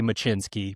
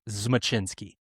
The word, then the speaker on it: Zmachinsky: He said a lot of his family tells people the Z is silent, but it's actually not. So I could say Machinsky, but it's Zmachinsky, I think.